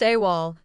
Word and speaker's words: AWOL: AWOL, pronounced AWOL, means absent without leave and is usually used in military contexts.